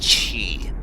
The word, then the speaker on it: Qi: all inquiry is resolved I'm pretty sure Qi is pronounced chee at least that's case